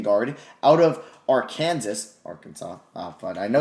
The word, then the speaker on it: Arkansas: out of our kansas arkansas oh fun i know if i said our kansas like as a joke people in the comments actually been like that is not how you pronounce arkansas i know it was